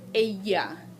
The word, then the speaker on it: ella: This is not umbrella, ella, ella, ella. This is ella. Remember when we did our alphabet? Double L sounds like a Y.